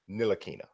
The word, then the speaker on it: Ntilikina: No, it's Nilakina.